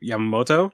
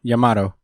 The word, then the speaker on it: Yamato: well i forget how do you say it yamamoto yamato yamato uh i feel like they both embody